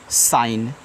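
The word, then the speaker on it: she: मतलब होता है चमकना एस एच ई तो इसको पढ़ते हैं सी तो एस एच आपका बड़ा सन आएगा और जिसके बाद देखो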